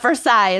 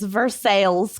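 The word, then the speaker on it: Versailles: like Paris verses veres not versil it's vers sales Kentucky there's a lot they're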